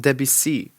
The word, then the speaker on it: Debussy: It's called Debussy, so it's not even like how they pronounce it in Family Guy.